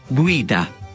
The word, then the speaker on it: guida: La U que sigue a la G ante las vocales I y E no se pronuncia en español y sí en italiano, como en Guerra. Guerra. Guía. Guida.